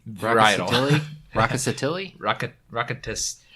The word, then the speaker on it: Rkatsiteli: the only of the wreck Rock ah si tele varietal raucous Attili rocket rocket tests I know I shouldn't be doing the R and the K but that's my American pronunciation yeah so it's 30%